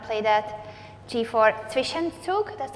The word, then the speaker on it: Zwischenzug: g4 Zwischenzug, that's how you say it?